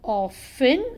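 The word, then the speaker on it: often: वाज ऑफेन greedy समम यहां पर टी साइलेंट है तो हम साइलेंट लेटर्स को रीड नहीं करते हम ऑफ इन ओ एफ ई एन पढ़ेंगे टी साइलेंट है तो उसको नहीं रीड करेंगे बट लिखने के लिए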